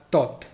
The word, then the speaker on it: taught: De tal manera que se va a taught, T-O-T, taught.